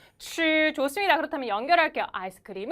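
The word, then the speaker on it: 吃: 한번 더 출 좋아요 빨래할 때 빨 하고 혀 위치 잡으신 상태에서 발음해 보시면 츄 좋습니다 그렇다면 연결 할게요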